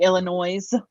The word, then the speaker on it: Illinois: Pittsburghers love to pronounce the S at the end of things, like things that Illinois. don't. Yeah, they're like Illinois.